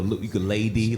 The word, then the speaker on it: ukulele: No, ukulele, like this is lady.